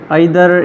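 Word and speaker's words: either: ये हमारे पास नेदर भी हो सकता है, या इसको दूसरी प्रोनाउंसिएशन में नीथर भी कहते हैं, आइदर या ईथर भी इसको कहते हैं। हम इसको ईथर ही कहते हैं।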